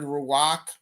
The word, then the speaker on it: ruach: one thing that's interesting is the hebrew word ruach so it's it's spelled r-u-a-c-h it talks about wind but it